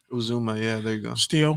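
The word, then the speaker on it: Uzomah: CJ Uzuma, Uzuma.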